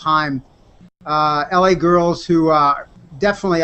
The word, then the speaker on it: Haim: talked-about artists were Haim looks like Haim but it's pronounced Haim la girls who are